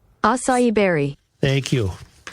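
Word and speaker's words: açaí: He said that berry is pronounced asah. Asai asai berry.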